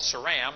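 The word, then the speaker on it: Seram: off to the left is called saram on some maps it's spelled with a c e r a m but uh in Indonesia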